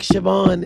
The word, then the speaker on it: Siobhan: In the English, America, we do names like Siobhan in Ireland are spelled with a B.